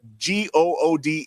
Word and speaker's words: Goode: that came before him his name is Brett good right g o o d pronounced good he's the guest he's